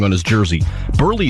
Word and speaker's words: Buehrle: wrong on his jersey burley is spelled b-u-e-h-r-l-e however the equipment staff put the r before the h because that's how it sounds when you pronounce his name so when burley saw